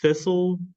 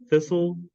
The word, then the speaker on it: thistle: might be confused by things like the word thistle thistle yeah thistle this tea is silent anything silent in IPA is not written